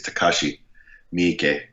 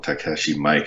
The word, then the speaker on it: Takashi Miike: Yeah, I think it's Takashi Miike. I always call him Takashi Mike because that's kind of how it's spelled.